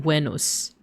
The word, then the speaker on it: Venus: So wenmon, which is a little bit closer to how it would have been pronounced uh in Latin, I guess depending on like which version of Latin, but it would have been wenos.